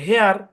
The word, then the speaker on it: hair: হেয়ার। কি উচ্চারণ? হেয়ার। হেয়ার। খেয়াল করেন কেমনে হেয়ার হইলো, এইচ এর সাউন্ড হ, AIR এই তিনটা মিলে ভাঙা যাবে না, ভাঙা যাবে না, এই তিনটা মিলে এয়ার, তাহলে হেয়ার।